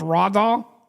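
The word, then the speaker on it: Dahl: say sorry Ral doll it says Rod doll so it's raw doll yes sorry name based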